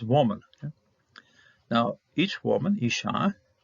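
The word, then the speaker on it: אשה: Now, each woman, Isha, you're going to pronounce it the same thing. Here, this is a doubling up of the hey because of the dagish here, but it's basically pronounced the same thing, same way.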